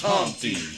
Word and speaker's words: Humpty: My name is Humpty, pronounced with an umpty.